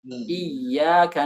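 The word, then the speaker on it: إياك: Iyyaka na'bud.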